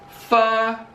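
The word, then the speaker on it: phở: plos float place pla fur is how you pronounce it but i pronounce it fo i'm not even going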